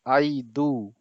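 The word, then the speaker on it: ಐದು: इसको बोलते क्या है, इसको बोलते हैं आई दू, AIDU। स्पेलिंग देखिए आप, आई दू। पाँच को आई दू बोलते हैं कन्नड़ा में।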